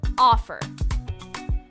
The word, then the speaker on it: offer: how about the verb offer offer again the first syllable is stressed offer when the first